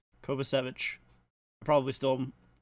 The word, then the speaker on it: Kovacevic: Kovacevic, that's how you pronounce that guy's name. I remember hearing it pronounced before. I just didn't remember how it was pronounced. Kovacevic.